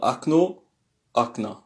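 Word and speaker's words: окна: Voilà, akna, c'est comme ça que ça se dit.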